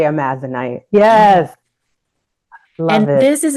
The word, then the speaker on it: Amazonite: And Lainey, I just saw a clip of you talking about, how do you pronounce it? Is it Amazonite? Yeah, I say Amazonite.